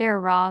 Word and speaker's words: Aehra: surprise perhaps given the era its pronounced air raw design team is headed